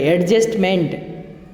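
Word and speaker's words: adjustment: डी जो होता है ये इसका प्रोनाउंसिएशन नहीं होता है, और MENT को भी मंट पढ़ा जाता है। एडजस्टमेंट, ये टी भी साइलेंट होता है।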